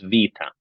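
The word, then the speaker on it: βήτα: now that length is a Greek letter which I looked up the pronunciation and it is Vita okay so Alpha Beta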